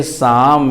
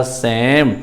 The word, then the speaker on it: psalm: तो P भी पहला कॉन्सोनेंट लेटर P साइलेंट हो गया और इधर का पहला कॉन्सोनेंट L साइलेंट हो गया, तो इसको हम लोग पढ़ेंगे शाम या सैम।